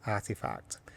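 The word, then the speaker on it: RTFKT: believe the spelling is RT k f t pronounced artifact and they before the acquisition had some really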